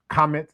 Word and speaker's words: Kemet: of the franophhone countries they don't use the pronunciation kmet they say kamet or kamita or things along those lines because it's more in alignment with that pronunciation.